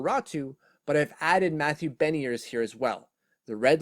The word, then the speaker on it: Beniers: I have a really hard time pronouncing that name, but it's Beniers.